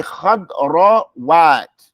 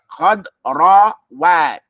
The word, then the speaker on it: خضروات: Don't just run over it and think everybody understands what you're saying. Say خضروات. خضروات. That's how you have to get used to it.